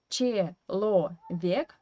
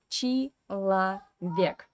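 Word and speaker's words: человек: it as e and this o again is without stress in unstressed weak position and we pronounce it as a so we write chi lo vik but we say chi la vik okay so yeah if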